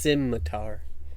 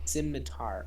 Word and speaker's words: scimitar: forgetting how it's pronounced scimitar symmetar okay like the sims yeah no problem is